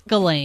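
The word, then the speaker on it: Ghislaine: never know how to say her name but gilain Maxwell is that how you say it is it gain J up jiz it's galain jiz it up her her father created like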